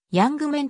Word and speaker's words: ユングマン: 野球選手右投右打発音指示ではヤングメンとなっている日本球界で